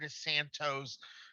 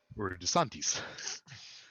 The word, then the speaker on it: DeSantis: wrong in order to override let's say governor desantos saying oh frodo i hate to tell you